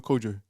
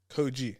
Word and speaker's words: Kojey: How do you pronounce his name? Kojey. Is it Kojey or Kojo? Kojey. Kojey. You're on about Kojo Funds, not him.